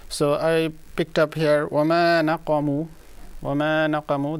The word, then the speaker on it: وَمَا نَقَمُوا: Anyway, so I picked up here وَمَا نَقَمُوا وَمَا نَقَمُوا. The qaf is going to be pronounced a bit clear, more clear. It was a bit drowned.